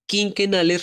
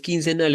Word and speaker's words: quinquenales: denominarán los planes quinquenales quinquenales refiere a cinco años no es quincenal es como muchos pronuncian por ahí en algunos momentos porque eso no son planes de dos semanas son planes de cinco años en los que a